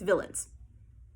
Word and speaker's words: villein: It's not really spelled villains, but that's what I'm going to say. It's villains. Villains? I don't know. Villains. It's spelled Villeins.